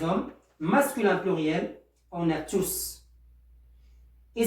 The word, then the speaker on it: tous: masculin pluriel on a tous et si on peut prononcer le s puisqu'il est prenant puisqu'il est prenant on prononce le s mais en tant que déterminant on ne peut pas le prononcer on ne peut pas